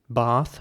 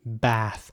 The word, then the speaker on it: bath: The British pronunciation of this word will be bath with an R sound, and the American pronunciation will be bath.